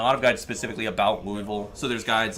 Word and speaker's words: Louisville: And there's always there's always one person in the comments who's like, "It's pronounced Louisville."